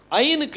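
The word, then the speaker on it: ע: இதுக்கு பி உச்சரிப்பு வரும், ஐனுக்கு உச்சரிப்பு கிடையாது. ஐன் வந்து சைலண்ட். ஐன் வந்து என்னது? சைலண்ட். அதுக்கு உச்சரிப்பு இல்லை. அதுக்கு வவல்ஸ் ஏதாவது பாயிண்டிங் கொடுத்தீங்கன்னா அதுக்கு ஏதாவது உச்சரிப்பு என்ன செய்யும்? வரும். அதுக்கு இல்லாமல் உச்சரிப்பு என்ன செய்யாது? வராது.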